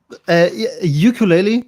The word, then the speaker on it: ukulele: the internet it was ukulele so yes exactly ukulele you can say sounds good about creativity first